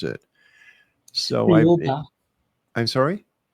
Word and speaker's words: Thiaoouba: Now, there's a prophecy that you want to talk about, and I cannot figure out how to pronounce it. So Thiaoouba. I'm sorry? Thiaoouba.